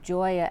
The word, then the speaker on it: Joya: But it was also coming up Joya as Gaia with a soft G, not a hard G. Joya. So that was very interesting.